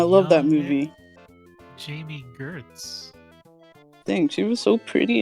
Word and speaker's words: Gertz: Gertz. Oh, like Gertz. Hurts.